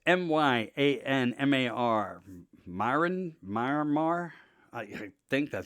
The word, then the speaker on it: Myanmar: So to pronounce it right, I think it's Myanmar.